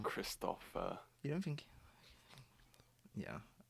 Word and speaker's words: Christoph: of the scene especially christopher waltz he does incredible at like christoph like oh sorry it's okay i think he i don't think he would like you uh saying his name wrong kristoff uh you don't think